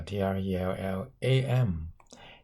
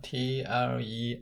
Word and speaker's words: trellis: 究竟係 trellis，又話 trellam，又話係 trellare 咧？3、 2、 1，答案咧就係 is 啦，trellis。